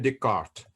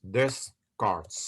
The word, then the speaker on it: Descartes: But when you know S is not pronounced in modern French, so we now say Descartes, not Descartes, okay?